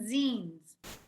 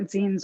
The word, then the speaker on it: zine: can go through what zines are, because it's a kind of a new concept for a lot of people. And it's like the word magazine, Z-I-N-E is how you pronounce it.